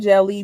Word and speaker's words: Djeli: I started Jelly because gatekeeping in publishing is real, and I got tired of asking for permissions to be seen, heard, and valued on the page. Jelly, pronounced jelly, goes beyond publishing.